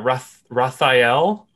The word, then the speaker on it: Rathael: raphael what's that what are we going with pronunciation there raphael i was saying rocked all the time yeah